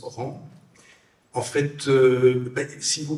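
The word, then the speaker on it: ranz: du rang des vaches qu'on écrit R A N Z mais qu'on prononce rang.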